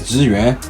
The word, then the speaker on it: Zhiyun: In Chinese, Zhiyun. That's how you say it.